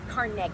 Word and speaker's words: Carnegie: Andrew Carnegie is remembered at Carnegie Hall, even if his name is mispronounced. Cargi. He was Scottish.